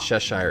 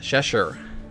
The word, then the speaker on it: Cheshire: this soul for the, it's not Cheshire, is it? Cheshire. Shout out to the comments again. To the Cheshire cat. That was actually a good pronunciation tip.